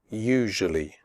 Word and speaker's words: usually: Adventure future nature usually the first you in usually is pronounced like the word you the S is pronounced like je in television usually tough the word tough